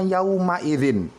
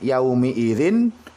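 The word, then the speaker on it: يَوْمَئِذٍ: Quran surah al-ma'arij 1129 tulisan yaumi ini justru kita akan membacanya yaumaidzin ya ya Um Airin makanya disini saya Tuliskan ia Umi Irin hati-hati bukan yawma-idzin ya karena memang kebanyakan di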